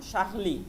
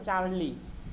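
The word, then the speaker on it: Charlie: সে কম শাহলি, ওটাকে বলা হয় চার্লি, ওকে? ইংলিশে চার্লি, চার্লি। আর ফ্রেঞ্চ উচ্চারণ হচ্ছে শাহলি, শাকলি।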